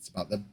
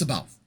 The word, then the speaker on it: C'baoth: It's C'baoth. It's C'baoth. I know. I always pronounce it C'baoth. The audiobook pronounces it C'baoth, but it's C'baoth.